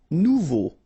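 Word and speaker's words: nouveaux: Final X not pronounced nuvo. Remember combination of a and u together it's o. So you get nuvo.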